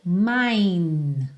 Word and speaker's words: mine: possessivo dele é o mine mine tem um é no final mas ele não é pronunciado OK então I my